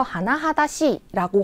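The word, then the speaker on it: 甚だしい: 그 다음에 2번입니다 하나하나씨 요거 발음을 주의하세요 하나하다 씨라고 하는 표현인데 매우 심각한이라고 하는 표현입니다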